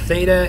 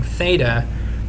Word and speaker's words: theta: uh so this is theta and it's spelled t h e t a and it's essentially a greek letter for us kind of sound like a th almost but this is the symbol